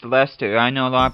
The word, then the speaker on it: Leicester: press the opposition as well and yes it's pronounced Lester I know a lot of people say lied Chester or something like that but it's actually pronounced Lester and Lester's gotten off to a pretty good